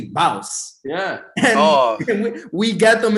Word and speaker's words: Bauce: still spell it out Boss. And I'm like, no, it's not boss. It's Bauce.